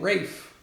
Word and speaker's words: Ralph: you said Ralph fianz you mean Ralph fines I think correct actually he pronounced his name Rafe rape fives I got